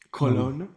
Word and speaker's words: Kelowna: Nuestra ciudad en la que estamos en este momento se llama, nosotros le decimos en español Kelowna, acá le dicen es Colomna. Colona, Colón. colona, Sí, colona.